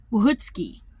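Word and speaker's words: Łochocki: of their name, because in Polish you put a line through the L and then it's pronounced like a W.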